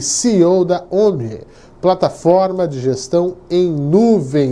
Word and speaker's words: Omie: Omni. Pronunciou correto.